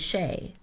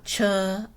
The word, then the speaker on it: Che: most of you know my name is Shay as Shay is spelled CA and people often call me uh cha and and she or people are always mispronouncing sheay but the truth is